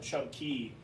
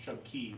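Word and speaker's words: Chub Cay: spelled K, C-A-Y, and everybody says K, but actually the Bahamians they pronounce it Key. So, this reads as Chub K. It's actually pronounced Chub Key, but over there they have what's called the tongue of the ocean.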